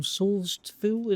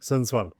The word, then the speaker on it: Sundsvall: So just a kid from Saulsville, if I said that right? How do I pronounce where you're from in Sweden? Sundsvall.